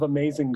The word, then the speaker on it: amazing: In the first word, amazing, the accented syllable, the stressed syllable, is may, like the second syllable of the 3. And in order for it to be said well or sung well, the first syllable, the letter A, is de-emphasized. It's essentially a pickup. And then we arrive at may, the second syllable, and then zing, the third syllable, is also a little less.